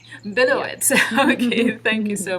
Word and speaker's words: Billowits: did I get your name pronounced correctly? Close, Billowits. Billowits.